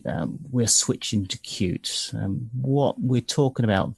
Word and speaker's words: Qt: Okay, so moving forward, um, cute or QT, never know how to pronounce that.